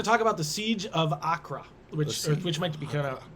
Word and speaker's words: Acre: Oh, we're going to talk about the Siege of Accra, which might be kind of that's their pronunciation. It's just spelled acre.